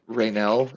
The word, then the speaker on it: Raynell: well uh for this it's spelled rainelle is the name he gave you r-a-y-n-e-l-l okay I've been doing Ren this whole time right now okay so